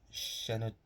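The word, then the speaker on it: Shenandoah: The Rare Breed and shenoa I believe is how you say Shen andoa um two Western I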